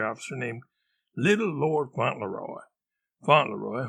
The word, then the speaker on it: Fauntleroy: Fauntleroy, which is pronounced Fauntleroy, not Fauntleroy, was a member of the Dragoons, a Dutch version of dragons.